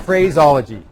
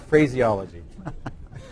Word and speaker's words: phraseology: phraseology oh i'm sorry i put the emphasis on the wrong syllable no fruit phraseology so we'll edit that out it's the phraseology not phraseology thank you see now